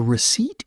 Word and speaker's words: receipt: The P is silent.